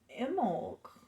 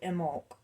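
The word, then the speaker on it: Imbolc: Um, it is Imolk. It's hard not to pronounce the B, but my friend Beth says you're not supposed to. So Imolk. Imolk.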